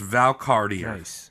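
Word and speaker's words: Valcartier: a new Fort at Val kashier which I looked up and that's how you say it it's Val Cartier Val kashier yeah you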